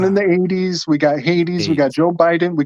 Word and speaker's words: Hades: Hades, the H is silent.